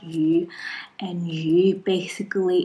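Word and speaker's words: 鱼: is fishing new year because fish in chinese pronounce you and you basically it's the same pronunciation like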